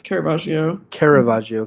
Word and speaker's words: Caravaggio: Like But you're saying that like who Caravaggio, is that how you pronounce his name? yes, Caravaggio.